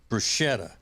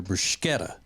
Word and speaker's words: bruschetta: That's why you don't hear me ever asking at an Italian place about their bruschetta. I ask about their bruschetta because that's the way it's pronounced.